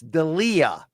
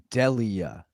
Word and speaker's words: Delija: It's Delija, just like Prince Andrew. So, No, sorry. Sorry. So, I I tried to write it phonetically, but it's Delija.